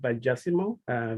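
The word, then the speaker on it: vigesimal: it uh the histimo in english i think you pronounce it by jessimo v-i-g-e c-i-m-a-l it's uh it's mathematics uh based on 20.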